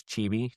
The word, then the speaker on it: chibi: Is it not chibi? It's chibi? Chibi. Chibi-weebies, so it's that kind of art style. Why are you making that so awkward to say? I Chibi. don't look, it's how it's spelled, Chibi. What do you want from me? Chibi. Chibi. Yes, looks like chibi.